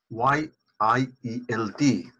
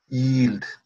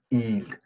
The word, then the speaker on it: yield: Y-I-E-L-D, yield, not yield, yield. Yield.